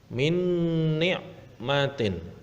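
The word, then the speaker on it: من نعمة: Nah, yang ketiga adalah min ni'matin. Nah, ada nun sukun bertemu dengan huruf nun. Nah, maka harus masuk dengan dengung. Min ni'matin.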